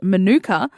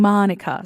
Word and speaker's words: Manuka: Also, by the way, on the Queen, Manuka was apparently originally pronounced Manuka, but Her Royal Highness strained it up. I never know how to say that right, but Australian accent. And it ended up being Manuka.